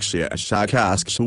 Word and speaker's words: Shashakask: of your human letters, something like Shashakask with a very strong pronunciation of the sh and k sounds.